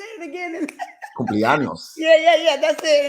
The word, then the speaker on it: cumpleaños: And Cumpleaños. yeah, yeah, yeah, that's it. And I was like, yeah, Cupianos, and they was like, okay, okay.